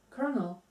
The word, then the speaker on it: colonel: colel just like a like a popcorn kernel kernel yeah but it sounds like an R kernel yeah is that okay you say kernel even though there is no R in the word okay then it's a